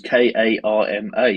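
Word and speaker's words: Caldmore: no no no Karma times on Facebook is k a r m a oh they've done it that way they oh yes because of the way it's mispronounced by people who don't know what cold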